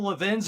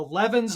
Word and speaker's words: Levin: So, there's there's two ways to pronounce my last name. You said Levvin. The all the wonderful Levven are from Philadelphia. The Levens are from New York City. So I was born in Brooklyn, so I'm 11.